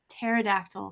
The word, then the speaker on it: pterodactyl: you who can't spell pterodactyl starts with a P so his p is silent so um well lucky